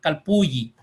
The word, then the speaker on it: calpulli: decía que se llamaba campus bully o calpulli o calpulli dicen los autores no se ponen de acuerdo todavía bien la pronunciación pero nosotros vamos a decir que se llamaba calpulli o casa de gran